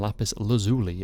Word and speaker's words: lapis lazuli: Bloodstone for red and lapis lazuli, as I am continually being reminded that it is apparently pronounced, for blue.